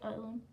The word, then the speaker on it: Island: Rhode Island. The S is silent. Rhode Island.